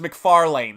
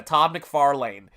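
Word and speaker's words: McFarlane: guy named Todd mcfan we didn't know how to pronounce his name until we saw the videos and I said Todd m farlan I think it was McFarlan that's how he pronounced it yeah Todd McFarlan and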